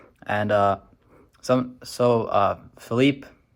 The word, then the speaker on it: Philippe: uh some so uh Philippe I don't know if I said Felipe before but it's pronounced tropical storm Philippe from what I understand